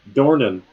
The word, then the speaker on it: Dornan: Dornan. How do you spell it? Dornan. Dornan. Alright, you're Like Donan. like doorman with an N.